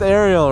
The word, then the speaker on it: Arielle: to call you today is Ariel okay it's pronounced Ariel right okay yeah for the video there you